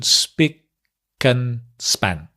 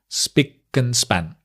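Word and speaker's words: spick and span: clean SP and span notice the pronunciation Spen span SP and span SP and span great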